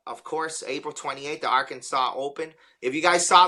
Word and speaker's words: Arkansas: but it was funny the S is silent I caught it Arkansas so it but it's